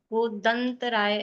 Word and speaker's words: गोदंतराय: गोतम, गोद और अंतराय, इनकी संधि हुई है, गोदंतराय। तो म नहीं आएगा, गोदंतराय ऐसा प्रोनाउंसिएशन आएगा उसका।